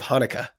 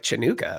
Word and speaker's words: Hanukkah: I just think of Hanukkah. Okay, well, Chinooka, because it's when I first saw the word Hanukkah spelled with a CH, I was like, Chinooka, what is yeah.